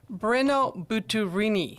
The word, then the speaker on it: Brenno Butturini: And his name is, let's see if I can get this right, Brenno Butturini.